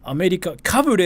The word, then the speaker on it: アメリカかぶれ: アメリカかぶれ is like wannabe.